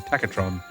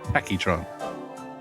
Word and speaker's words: Tachytron: I called her Tachytron because she looks like Tacky from Soul Calibur, and I've been saying Takatron ever since, when I should be saying Tachytron.